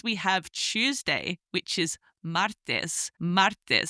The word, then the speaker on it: martes: Next, we have Tuesday, which is martes, martes, spelled M-A-R-T-E-S.